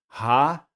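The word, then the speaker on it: הַלְלוּיָהּ: Então, por isso que vamos pronunciar assim, ó. Hallelujah. Hallelujah, não é hallelujah, não é hallelujah. Louvai a Yah.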